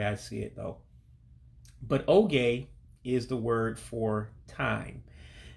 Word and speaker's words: oge: So when you see an E, for instance, like E for Edward, pronounce that as an A, like, like my name. So that's why I'm saying oge for time.